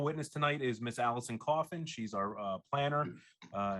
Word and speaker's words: Coffin: uh my name is alison coffin uh it's spelled c-o-f-f-i-n like the box i'm a licensed professional